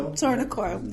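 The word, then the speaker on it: Tor-na-Coille: Good afternoon, Calum, and thank you for joining me today here at Tornacoil. Is that how you say it? I can never pronounce it. Tornacoil, there we go.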